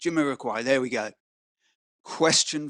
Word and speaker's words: Jamiroquai: I pronounced it correct. Jamiroquai.